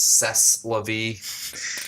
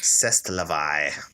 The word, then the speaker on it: C'est la vie: It's actually pronounced C'est la vie. C'est la vie. Yeah, there you go. You got it. It's real French.